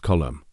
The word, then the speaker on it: Colm: Colm spelled c m pronounced column.